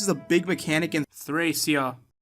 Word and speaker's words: Thracia: I understand that this is a big mechanic in Thracia, which is apparently how you're supposed to pronounce it.